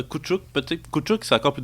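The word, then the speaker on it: Koutchouk: Ouais, relativement, parce que je prononce un T qui est peut-être pas là avec le Chuk Chuk, là. Kouchouk, peut-être. Ouais, Kouchouk, peut-être.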